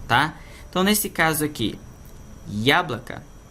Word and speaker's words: яблоко: Então nesse caso aqui, яблоко, a sílaba tônica está no ya.